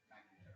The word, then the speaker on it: McIntyre: I went over and asked them, and that's McIntyre. McMinn? Yeah. So McIntyre is how we pronounce that.